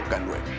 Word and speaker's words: K9: Estos perros son llamados K9, por sus siglas en inglés, dada la pronunciación conjunta con la letra K y el número 9 en inglés, los cuales resulta en el sonido canine, similar a canino.